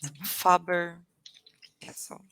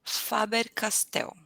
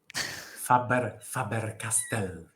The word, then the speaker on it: Faber-Castell: In Portuguese, we have famous brand called Faber Castle I know this. Pencils, right? pencils. Uh, pen, yes, and pay attention. In Portuguese, Faber Castell, Faber-Castell.